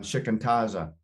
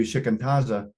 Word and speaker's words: shikantaza: He just let me work on shikantaza, which is Japanese for just sit, mind hit,